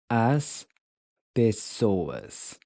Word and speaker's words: as pessoas: As pessoas. As pessoas. As pessoas. As pessoas, literally the people. As pessoas. So the A is pronounced like the in Cuba. Pessoas.